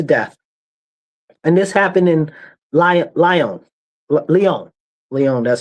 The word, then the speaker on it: Lyon: And this happened in Lyon.